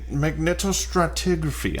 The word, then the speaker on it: magnetostratigraphy: paleontology and magnetostructure magma magnetostratigraphy i could never get that magneto oh it's got like five syllables magnetostratigraphy which is um it's a